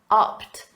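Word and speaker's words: upped: in the past simple opt and notice that pronunciation it's a soft T the Ed is pronounced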